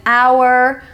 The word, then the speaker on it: hour: ounce this letter but it's the letter H at the beginning of some words as an hour herb and honest h o Ur we don't pronounce it how we pronounce our